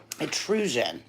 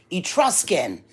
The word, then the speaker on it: Etruscan: of Steve how do you say this um at rusian it no not only Gendron Etruscan okay 18 karat gold Etruscan ring with on